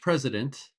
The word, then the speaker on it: president: French president. President with a Z sound.